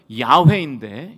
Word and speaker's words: 야훼: 히브리어로 발음하면 야훼인데, 야훼, 나와 관계를 맺으시고 나의 삶에 구체적으로 찾아오셔서 약속을 이루시는 인격적인 하나님을 표현하는 이름이 바로 여호와, 야훼인 것입니다.